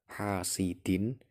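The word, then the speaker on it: حَاسِدٍ: Hasidin kasroh tanwin bertemu alif atau hamzah. hasidin idza. Nah, itu dibaca jelas, hukum bacanya idhar.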